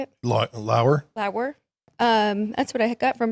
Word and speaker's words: Lauer: I thought it was going to be Eric Lawyer. How do you say it? Lauer.